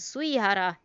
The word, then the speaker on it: Sugihara: It is indeed written as Sugihara, but it is pronounced as Suihara.